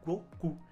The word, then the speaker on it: Goku: então ficaria 5/9 e na pronúncia japonesa do mês 5 mais o dia 9 a gente tem go e cu que é justamente o Candi japonês de Goku Olha que doideira galera